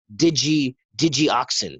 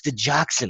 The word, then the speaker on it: digoxin: a medicine called digoxin and the way it's spelled it's not spelled the way it's us Fernet accrue you that's not the way it doesn't look that it looks like digi digi auxin that's what it looks like so and all of us said it wrong a thousand times before before we're told no no it's digoxin like uh uh digoxin